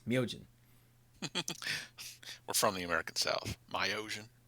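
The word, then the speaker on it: Myojin: in in that so it's not myogen it's myogen we're from the american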